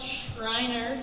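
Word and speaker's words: Schriner: three ladies and gentlemen david sweeney pronounced shriner grew up in calgary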